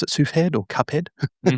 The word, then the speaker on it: Cuphead: Um he's done music for I don't know if you pronounce it suhead or Cuphead. Oh Cuphead.